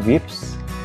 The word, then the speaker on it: wIPS: show you about wips i pronounce it as wips is ips as last